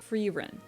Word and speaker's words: Frieren: Frieren.